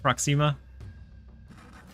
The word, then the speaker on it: Proxima: going to hold off do I like like Proxima I always get roasted I know now I